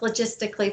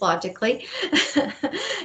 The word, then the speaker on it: Logically: company called logically which i think he pronounced logistically but logistically it's logically and uh they've been